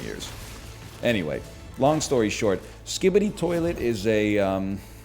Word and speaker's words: Skibidi Toilet: Anyway, long story short, Skibidi toilet is a it's a Is series. that how you say it? Skibidi toilet, yeah.